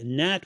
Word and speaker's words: gnat: And to play with the word a little bit, a gnat with a silent G, a gnat if you will, is a pest, is it not?